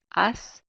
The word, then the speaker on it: haz: So we have haz, remember that H is silent, haz, se, and ve.